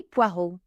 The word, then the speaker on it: poireaux: Les poireaux. So you don't pronounce the X, just like you don't pronounce the S on the end of words in French.